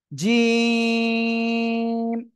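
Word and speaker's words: ج: এই অক্ষরটা কি জিম এই জিম অক্ষরটা উচ্চারণ হবে কোন জায়গা থেকে জিহ্বার মাঝখান দেখেন আমার দিকে তাকান জিহ্বার মাঝখান তার বরাবর উপরে তালুর সঙ্গে লাগাবেন লাগিয়ে উচ্চারণ করবেন জিম ঠিক আছে তিন আলিফ টান হবে কয় আলিফ তিন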